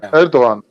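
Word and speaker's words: Erdoğan: Um Erdogan. Elder. Thank you. He Erdogan.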